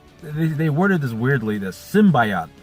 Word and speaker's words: symbiote: But what we know is there's this corporation that found they worded this weirdly, the symbiote, like it was like symbiote. Like now I'm mixed up on how to pronounce it.